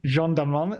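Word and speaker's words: Jeanne Dielman: chantal's um Jean delman is that correct pronunciation is is Jean Delan Jean Delon thank you there you go we're not going to do the whole the whole French yeah you do it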